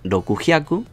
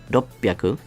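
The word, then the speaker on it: ろっぴゃく: Igual que pasaba en el resto de contadores, no vamos a hacer roku, hyaku, así. Omitimos la última sílaba. Así. Añadimos un pequeño tsu y aquí añadimos un maru. ¿Vale? Y se convierte, en vez de rokugyaku, en ropyaku. ¿Vale? Ropyaku. Duplicamos la P.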